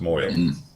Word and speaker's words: mohel: Pronounce moil.